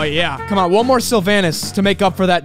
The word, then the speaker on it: Silvanus: sylvanas that's how you say his name it's sylvanas sylvinus x suit one star boom bam finally